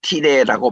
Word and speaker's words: 티레: 그래서 아까 우리 봤던 두로 지방을 오늘날 가면 티레라고 발음을 하는데, 거기와 시돈, 이 양자